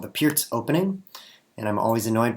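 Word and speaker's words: Pirc: call him Doom D6 this is called the Pierz opening and I'm always annoyed by people pronouncing it perk um because it's spelled p i r c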